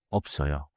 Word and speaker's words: 없어요: FTH smooth the link 있어요. sounds like 있어요. like like 없어요.